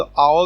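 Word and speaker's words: hour: यहाँ पे इनका इस्तेमाल हुआ है, तो यहाँ पे आप देखिए एच साइलेंट है और वो ओ वावल है। तो आवर को हम जब प्रोनाउंस करते हैं तो ये ए का साउंड देता है आवर, तो इसके नीचे इसके लिए इस्तेमाल होगा एन।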